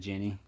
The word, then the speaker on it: Ginny: So how Colonel would pronounce it Guinea instead of Ginny, because he likes to read names the way they look.